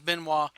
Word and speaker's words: Benoit: He goes, "Yeah, the correct pronunciation is Benois."